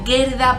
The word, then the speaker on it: Gerda: que es que la vi en inglés, se pronuncia Gerda, pero su mujer.